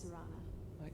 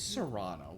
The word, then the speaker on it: Serana: By the way, my name is Serana. Is Serrano? Yes, Wow! S-E-R-A-N-A. I've been saying it wrong Yep.